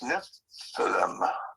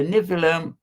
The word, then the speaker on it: Nephilim: It's spelled Nephilium. I would guess that it's Nephilim.